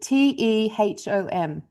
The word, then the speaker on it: Tehom: has a name, Teom. Is that how you pronounce it? Tehom.